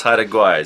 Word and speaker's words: Haida Gwaii: That is how to mispronounce Haida Gwaii, say Queen Charlotte.